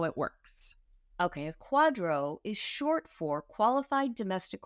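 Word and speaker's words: QDRO: right well then there's something called a Quadro and that's spelled with all capital letters QD r o and we say Quadro I want to talk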